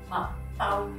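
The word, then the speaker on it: 麥兜: 애니메이션 캐릭터라고 생각할 수 있어요 이름이 맞다 통해 발음이 맛따 이렇게 할 때 어한 따우 약간 이렇게 발을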